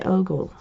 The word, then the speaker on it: ogle: Unless the G is silent, you don't say Google, you say ogle.